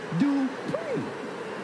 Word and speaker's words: Dupree: Michael, it's pronounced Dupree.